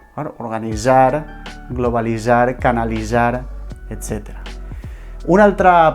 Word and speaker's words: organitzar: Organitzar, globalitzar, canalitzar, etc. Una altra pronúncia admissible per altres gramàtiques o per altres manuals d'estil o normatius és la pronúncia DZ.